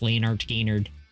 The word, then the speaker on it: Lynyrd Skynyrd: Steely Dan, Lynyrd Skynyrd, pronounced Leonard Skynyrd, Genesis, Selling England by